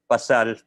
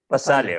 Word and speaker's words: Pasale: We would also like to thank the support of Cine Kasimanwa in Western Visayas, Pasal Film Festival in Bicol. Did I pronounce it right? Pasal? Film Festival. Pasale, okay.